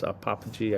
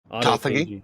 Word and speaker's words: autophagy: killing is the apoptosis, necrosis, how do you pronounce apophagy? I can't even. Autophagy.